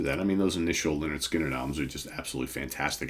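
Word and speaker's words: Lynyrd Skynyrd: So my pick today, if you recognize the riff at the beginning of the song, is Simple Man from pronounced Leonard Skinner, debut album, 1973.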